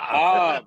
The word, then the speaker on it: Jav: What do you mean AKA Job? Don't do Jav, that. Jav. No, it's Jav. Hob, not Job. Hob.